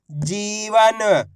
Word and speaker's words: जीवन: इसी प्रकार से खींच के पढ़ना आपको, जीवन। ऐसे नहीं पढ़ना जीवन। अगर आप जीवन पढ़ दोगे तो छोटी ई की मात्रा का उच्चारण हो जाएगा। खींच के पढ़ेंगे जीवन, इस तरीके से।